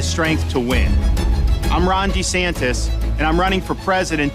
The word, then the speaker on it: DeSantis: I'm Ron DeSantis, and I'm running for president to lead our great American comeback. By the way, that's Ron DeSantis, not DeSantis. We've been saying it wrong this whole time.